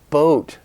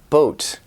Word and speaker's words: boat: they make it long it makes a difference if you're saying bought or boat I bought a boat maybe say I bought a bought like water I bought a robot I bought a boat maybe a toy boat for my kid boat